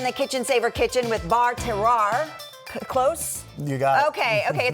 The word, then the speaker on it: Bar Terroir: So you were schooling me on how to say it because everyone I know says Bar Terrier, but that is not how you say it. It is French. So we're Bar Terroir, and that is a